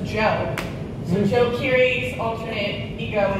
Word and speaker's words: Djo: or an alias and I found it spelled d-jo and I was wrapping my brain how am I going to pronounce this it's actually just gel so Joe curie's alternate